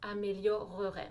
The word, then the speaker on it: améliorerait: comme préféré ou améliorer fait bien l'effort de dire la syllabe supplémentaires préférerait améliorerait même si ça vous paraît long c'est la façon correcte et comme ça par